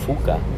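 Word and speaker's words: phouka: And another way to spell it is P-H-O-U-K-A. Fuka.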